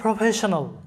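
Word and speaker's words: professional: তাহলে প্রফেশনাল, PRO প্রো, FE ফে, SION শন, AL আল, প্রফেশনাল।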